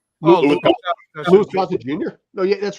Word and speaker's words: Louis Gossett Jr.: But Luciv Gossip Jr. Oh, Louis Louis Gossett Jr.